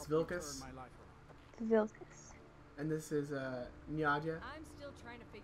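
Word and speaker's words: Njada: The J makes a Y sound. Nyada. Nyada. You just said Nada.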